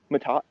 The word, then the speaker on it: Matott: name sir sarah park and park or um matata thank you well yeah you're actually the best at pronouncing my name i i remember like getting